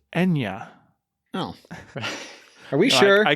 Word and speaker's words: Eithne: It's an anglicized spelling of the actual pronunciation.